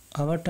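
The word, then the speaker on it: hour: আওয়ারটা আমাদের যদিও এইচটা consonant sound কিন্তু উচ্চারণটা আওয়ার হচ্ছে, আওয়ার হওয়াই এখানে অ্যান আসবে।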